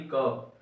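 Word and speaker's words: curb: A option अपने पास आता है कर्व, CURV, कर्व। आर को साइलेंट रखो एकदम, कर्व, ठीक है।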